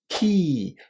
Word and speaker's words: key: Remember, it's not K like the letter K in the English alphabet. This is key with a nice long E.